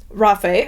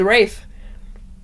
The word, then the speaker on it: Rafe: with a burning passion I love rafae as I call him found out that's not how you pronounce it because I listened to this as an audio and apparently his name is Rafe never gonna call him